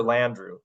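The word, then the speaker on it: Landrieu: Senator Landrew, that's that's how you say it's one of those,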